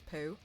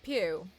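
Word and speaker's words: Pugh: name CU I've defin I think I just pronounced her name as Florence Pooh that's wrong isn't it that's not right right I didn't mean it pew Flor poo poo like few probably oh do you think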